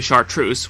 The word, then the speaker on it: chartreuse: 24 but I digress this color is actually chartreuse which rhymes with puce and that isn't helping